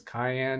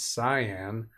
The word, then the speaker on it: cyan: some people call that pronounce that as Cayenne it's cyan Cayenne is a pepper but something else interesting